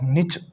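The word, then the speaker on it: niche: इस प्रकार नीश बोलते हैं हम किसी एक पर्टिकुलर फील्ड में. लेकिन इसको आप निच या तो शॉर्ट में बोलोगे तो क्या बोलोगे? शॉर्ट में नहीं कहेंगे, मतलब दूसरी प्रोनाउंसिएशन अगर आप बोलोगे इसकी, या तो आपको बोलना नीश. अब लंबा नहीं बोलना, नीच. नीच वाला बोलना चाहो तो नीच होगा. फिर निच. निच. निच. दिस इज माई निच.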